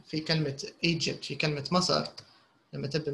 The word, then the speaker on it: Egypt: ما فيهاش, there's no D, but in the pronunciation there is a D.